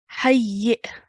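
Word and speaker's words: حيٍّ: hayyi. Hayyi. Good. Ha joins onto the ya mushaddad. Ya mushaddad also has a kasra, so it's hayyi, and then soft jerk sound at the end.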